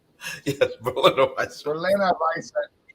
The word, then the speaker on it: Berliner Weisse: And by the way, it's pronounced Berliner Weisse. Yes, Berliner Weisse.